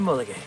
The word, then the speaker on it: Mulegé: Welcome to Mulegé. You sure you pronounce it right? I pronounced it right.